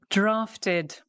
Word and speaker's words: drafted: Drafted, drafted. So it's got the ED, the id sound, okay, or the ID ending, the id, drafted. An extra syllable because we've got the T, okay?